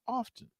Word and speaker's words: often: Do you pronounce the T in often? I do not. It's supposed to be. So how do you say it? Often. Often. It's oftentimes. There's the only T in often when it's oftentimes, but it's often.